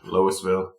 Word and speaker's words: Louisville: a solid Louisville and pronounce your name the way you like loisville you chicken making bastards